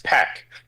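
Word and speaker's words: PAQ: Le let's start off with the name because we've been saying puck the whole time.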